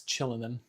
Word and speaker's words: Kylin: I wonder why it's chillin. Anybody do mate? I I have no idea why it's pronounced chillin if it's spelled that way.